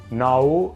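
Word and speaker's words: نو: Nou ha la stessa pronuncia del rumeno, nou, e si scrive molto simile all'inglese nu, e significa nuovo, nou.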